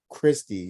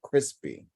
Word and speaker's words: Christi: So Bill was in charge of doing that part of the bracket, and he kept mispronouncing Christie and saying crispy.